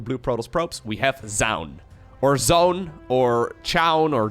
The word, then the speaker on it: Zoun: So I always kind of assumed it would be pronounced as Zone, but apparently that's not correct. Anyways, OU in Dutch would be pronounced as an owl, and it seems like most people are going with something along the lines of Zoun, so I'm not entirely sure. Either way, he is a